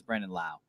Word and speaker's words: Brandon Lau: No, I guess that was my Hispanic brain reading it as it is pronounced. But no, it's Brandon Lau.